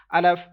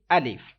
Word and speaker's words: alif: listen to me carefully first letter is alif some people pronounce it i love some some people pronounce it and if like some uh people like uh stretch this letter and some people uh don't read in arabic accent so we have to read alif that is perfect way